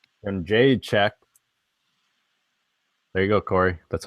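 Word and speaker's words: Jędrzejczyk: And Jade check. There you go, Corey. That's how you pronounce it.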